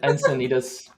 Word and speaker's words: Encinitas: Encinitas? I don't know how to pronounce it. Infinitas? There you go. It's Thank you, probably Raul. Encinitas.